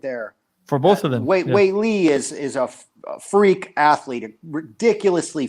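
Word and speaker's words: Weili: We got Rose versus, how do you pronounce her name? Wei Li.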